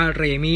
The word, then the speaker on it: Raimi: Sam raimi นี่ นี่ เขา ให้ ออก เสียง ว่า เร มี่ นะ ฝรั่ง เข้า ออก สี